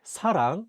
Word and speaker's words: 사랑: In the Korean word 사랑, which means love, the 시옷 is at the beginning of the word. Therefore, it's pronounced as 스.